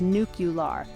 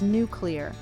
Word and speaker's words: nuclear: It's often said as nuclear, but the correct pronunciation is nuclear.